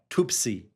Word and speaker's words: Tuapse: Tuapse, I believe is how they say it.